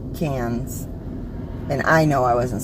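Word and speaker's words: Cannes: correctly but I then she said it's cons or cans and I know I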